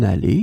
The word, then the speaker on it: allée: In this lesson, we will see together 3 words that will be written differently but pronounced the same way. Allez, allez, allez. So in the first case here, it's a noun, une allée, it's a feminine noun.